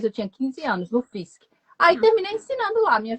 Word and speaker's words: Fisk: A gente pronunciava Fisk.